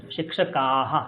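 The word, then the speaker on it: शिक्षकाः: শিক্ষক শিক্ষকৌ শিক্ষকাহা হুম শিক্ষাহা এরকম উচ্চারণ করুন কোন ভুল নেই শিক্ষাহা উল্টে উচ্চারণ স্পষ্ট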